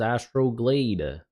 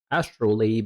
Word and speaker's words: Astrolabe: I thought it was Astrolade. Mis understood, mispronounced. Astrolabe.